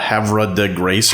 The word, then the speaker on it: Havre de Grace: It's like a Havre de Grace, if you were reading it phonetically.